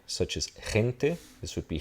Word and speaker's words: gente: In this case, and I'm not really going to talk about J's, but they would be pronounced like a J. In Spanish, a Spanish J.